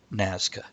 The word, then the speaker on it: Nazca: Nazca, yes.